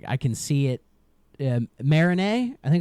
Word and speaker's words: Marigny: I think it's called Marigny. It's a it's French, but it's spelled with like g n y and I'm like it's not it's not Marigny. It's probably Marigny cuz, you know, French.